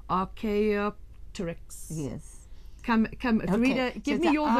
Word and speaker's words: Archaeopteryx: It's Archaeopteryx. How somebody can say that fast, I do not know. But it's Archaeopteryx.